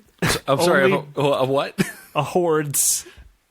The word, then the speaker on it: hordes: A hordes. It's spelled horse with a D right in the middle.